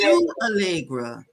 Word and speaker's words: Chou Hallegra: it's Shoe Allegra.